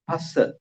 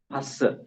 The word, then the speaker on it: Phassa: The first one is Phassa. Phassa. P-H-A, not Pha. It is Pa, right? Pa.